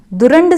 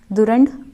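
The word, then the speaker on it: Durand: और भारत और अफगानिस्तान की जो सीमा आपस में लग रही है उसका प्रोनाउंसिएशन है दुरंड सीमा रेखा, दुरंड सीमा रेखा।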